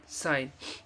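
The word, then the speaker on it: sign: जी N eighty net एस आई जी एन साइन तो इवर्स में आप देख सकते हैं यहां पर यह साइलेंट है एच के बाद ओ होने पर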